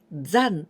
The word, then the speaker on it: 産: Here we pronounce 残 instead of san, okay?